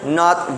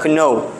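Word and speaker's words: know: You cannot pronounce the phoneme k when you pronounce this word. Okay? Dili siya kno. There is a phonological conditioning there nga dapat no lang ang pagka-pronounce ana. Okay? No dapat. Silent k.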